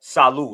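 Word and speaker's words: Salou: Um it's called Saloo. It's spelled s a l o u. That's the That's the part of Spain. Shaloo, Spain.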